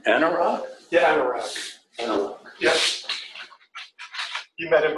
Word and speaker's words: Anurag: How do you pronounce his name? Anurag? Yeah, Anurag.